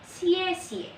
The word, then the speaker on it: 谢谢: akan belajar tentang xie xie xie xie bacanya Ciecie kalian bisa ikutin ya